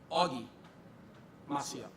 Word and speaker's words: Og Maciel: So it is pronounced Augie Maciel. Okay, that is how it is pronounced, but I'm going to show you how it is spelled.